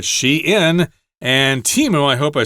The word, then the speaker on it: Shein: Uh if you don't know that, you would probably read that as shine using German pronunciation sensibilities. But here she in and Teemo.